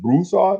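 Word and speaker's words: Broussard: we pronounce it Brad he pronounced it bruad like the emphas on the first part of it but whatever I see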